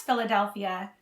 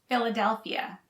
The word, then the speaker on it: Philadelphia: paths and beautiful nature to pronounce philadelphia remember ph is pronounced as an f philadelphia philadelphia philadelphia we call